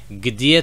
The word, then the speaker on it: где: Next we have где, which is a bit of a weird thing to kind of pronounce. Где, где. A bit weird for English speakers, I guess.